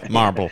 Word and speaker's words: Marlboro: I'd probably just Marlboro. Is that how you say it? It's not how it's spelled. Way it was intended to be said, for sure. Yeah. Marble.